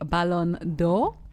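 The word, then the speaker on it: Ballon d'Or: Now, one that I clocked I saw this has been celebrated on social media is the winner of the Balonor. Did I pronounce it well?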